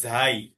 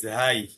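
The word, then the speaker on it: زاي: জিনিবজিনি রাববিজিনি রব্বানা যা আরব দেশে এ শব্দ এ অক্ষরকে বলে ঝাই আমরা বলি ভারত উপমহাদেশে বলা হয় এরাবিক কান্ট্রিগুলোতে বলা হয় কি ঝাই উচ্চারণ একই জিহ্বার আগাটা সামনের নিচের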